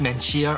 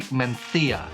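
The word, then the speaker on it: Mencía: a native English speaker it looked like it might be pronounced Mencia or Mencia but it's actually menthia you're gonna find it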